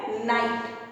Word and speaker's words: knight: फिर वर्ड आता है नाइट, KNIGHT, नाइट। यहाँ भी के साइलेंट है।